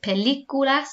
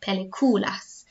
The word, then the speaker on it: películas: Okay, make sure you have included the accent on películas because it tells me I need to pronounce it películas and not peliculas.